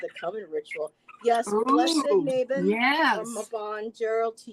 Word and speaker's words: Mabon: Happy Mabon or Mabon, as some people also pronounce.